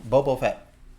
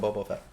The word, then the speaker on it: Boba Fett: i'm not watching my bobo fat um that's really the book of boba fett i've been watching that boba fett i'm saying it wrong my bad um you're